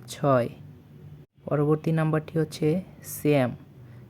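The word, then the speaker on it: семь: বলছি শেষ শেষ বা ছয় পরবর্তী নাম্বারটি হচ্ছে স্যাম স্যাম বা সাত আবারো বলছি সিয়াম বা সাত পরবর্তী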